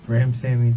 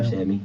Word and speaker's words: Ramsawmy: Ramsawmy, the W sound. Ramsawmy.